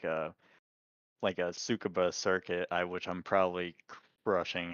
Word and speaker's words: Tsukuba: I look at it as almost like a Tsukuba circuit, which I'm probably brushing how to pronounce that Oh, name.